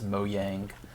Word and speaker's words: Mojang: how you pronounce it I think the proper pronunciation is moang Yang but that sounds kind of silly to me Mojang sounds slightly less silly